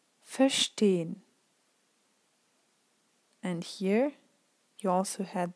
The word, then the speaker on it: verstehen: So, and then the same goes with prefixes, R, zer, fer, because they're kind of, you have the feeling that kind of a part of the word ends after the prefix, and this is why you don't pronounce it.